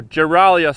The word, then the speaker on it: Giralia: guys we are at guerralia station or geralia station is pronounced like a giraffe we have heard that